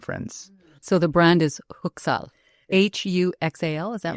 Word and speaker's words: Huxal: So it's pronounced Huxal. So the H is silent.